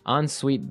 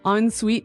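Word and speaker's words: en suite: UI t e so even though it's e n we pronounce it like an o n yep onite so an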